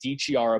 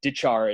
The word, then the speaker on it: DiChiara: game-winning Clark Cup goal has your name pronounced D Chiara but I was just talking to Zack fish and he said he found out years later that it's actually dejar is that does that